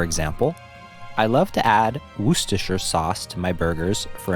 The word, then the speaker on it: Worcestershire: It can be a challenge to pronounce correctly. The trick is to emphasize the first syllable and to blend the last syllables together.